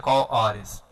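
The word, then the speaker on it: כל הארץ: Kol Ores, no hebraico Tanahi, no hebraico antigo, e no hebraico moderno Kol Aares, né? A gente pode ver embaixo, então a pronunciação correta seria Kol Ores.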